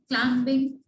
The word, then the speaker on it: climbing: Number 4, he is climbing the mountain. Here B is silent. Climbing. Okay? So the B is silent over here.